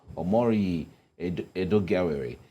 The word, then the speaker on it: Omoruyi Edoigiawerie: So joining us in the studios to make sense of all of this is a lawyer and public affairs analyst, Omoruyi Edoigiawerie.